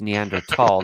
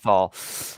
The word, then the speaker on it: Neanderthal: Okay, I want to play this Neanderthal that got out of his car. Actually, it's Neanderthal, not thal.